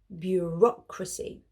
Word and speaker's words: bureaucracy: Notice that they're pronounced quite differently, and this is because the stress is on a different syllable. Repeat after me. Noun, bureaucracy.